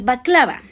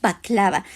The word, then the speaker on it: baklava: El número 10, el baklava. Es un postre tradicional turco que muchas familias turcas consumen. Y tenga cuidado, no se dice baklava, no, ni tampoco se dice bacalagua. No, es baklava.